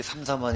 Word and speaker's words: 삼삼한: 향상 사업 이라고 했는데 제가 잘 못 들은 건 아니죠 이게 삼삼한 이라고 읽으면 되는 겁니다 그래 맞습니다 이 사업은 아 군부대